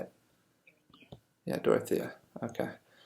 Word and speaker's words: Dorothea: Yeah, Dorothea.